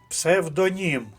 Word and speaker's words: псевдонім: слово будь-який інший склад псевдонім третій склад ярмарковий третій склад сантиметр